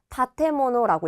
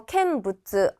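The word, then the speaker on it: 建物: 세울 건자에 물건 물자를 써서 건물이 되는데 얘는요 타테르에서 루를 뺀 부분에 모노를 붙여서 다테모노라고 읽을 거예요. 요거 건물이라고 해서 캔부츠 아니에요.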